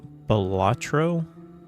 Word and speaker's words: Balatro: But I think, if I understand, you guys are agreeing with me, what I consider 3 syllables, Balatro.